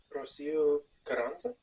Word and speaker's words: Rocío Carrizosa: Rocío Carrizosa.